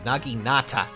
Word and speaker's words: naginata: naginata what that does is that it got naginata saying it correctly that accelerates special trigger cooldown